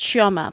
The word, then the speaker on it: Chioma: Queen by birth Queen it's actually pronounced chioma that's how it's pronounced Queen choma I say choma the English way and nawagu so I've